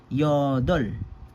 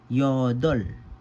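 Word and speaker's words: 여덟: So this word is pronounced as yodol. Yodol.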